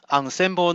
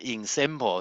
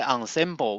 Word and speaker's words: ensemble: As you can see, we don't pronounce as ensemble, so this is a French word. It means a group of objects. And in this context, in our talk, when we say ensemble, we are trying to